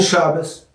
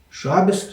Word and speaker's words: Shabbos: And Shabbos? Shabbos too. Shabbos is for the European Jews, Ashkenazis, and Shabbat for the Israeli Jews. That's the Sephardic dialect.